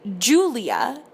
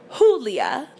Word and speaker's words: Julia: Alvarez, and the neighbors, who became my mother's friends, pronounced her name Julia instead of Julia.